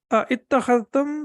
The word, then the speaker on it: أَتَّخَذْتُمْ: So it was basically ittakhadhtum, but again, we have to connect it and we have to recite it like this.